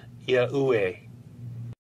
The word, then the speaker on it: Yahuwah: These IEUE letters in this famous illustration would be pronounced as Yahuwah.